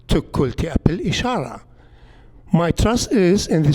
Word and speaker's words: Tiglath-Pileser: We know now from the Assyrian cuneiform inscriptions that the king's name, Tiglath-Pileser, was actually pronounced Tukulti Apil Ishara.